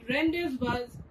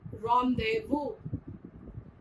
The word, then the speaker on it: rendezvous: It is not rendezvous, but pronounced as rendezvous.